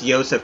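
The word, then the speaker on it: Josef: actually very nice finish think it's actually supposed to be pronounced Yosef Martinez not Joseph Martinez Kevin Campbell can you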